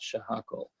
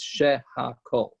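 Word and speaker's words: שהכל: Huckle by the way the proper pronunciation of Chicago is not sure Huckle its share hawk oh okay sure Huckle is just a disaster when you say like that right cuz shares the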